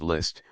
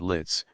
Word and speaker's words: Liszt: rishu where does Mr list live I asked and pronounced it litz for the parisians have never got any further with the name of list than litz the address of list